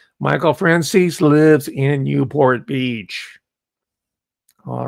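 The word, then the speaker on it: Franzese: there's actors, celebs, galore, Michael Francisi or he calls it Francis. Sorry, I accidentally give it the more appropriate Italian pronunciation. He said, you know, I'll pronounce it the way he wants it.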